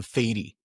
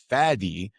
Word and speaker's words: Fady: They were accepting the Fady, the performance, the mask, a long A version of my name. The real Fady, the Fady, the one